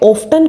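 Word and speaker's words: often: एक और चीज़ कि हाउ ऑफ्टन, यहाँ पे ऑफ्टन को आप ऑफ्टन भी बोल सकते हैं और ऑफन भी, दोनों की प्रोनाउंसिएशन ठीक है.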